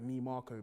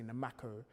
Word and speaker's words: Nimako: day, like Ni Marko, because I was tired of everybody saying it how. Saying it like wrongly. Yeah, like, because like my surname is spelled Nimako, and I had a teacher that used to say Namako.